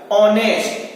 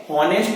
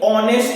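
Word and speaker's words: honest: ऑनेस्ट, हॉनेस्ट नहीं पढ़ते, ऑनेस्ट पढ़ते, ओ निकल रहा है, ओ क्या है हमारा, बॉबिल है। जब बॉबिल का प्रयोग हो रहा है यहाँ पर, एच साइलेंट हो गया है, तो यहाँ पर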